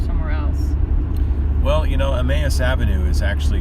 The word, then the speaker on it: Emmaus: Like there's Emmaus, but some people call it Emos.